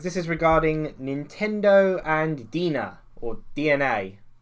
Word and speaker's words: DeNA: is regarding nintendo and dina or dna for some reason they put e in it because they're stupid but it's pronounced dna yeah basically nintendo are